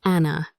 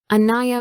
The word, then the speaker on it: Anaya: Teachers called me Anna, and I stopped correcting them. It was easier that way. My mother hated it. She said, "Anaya means caring.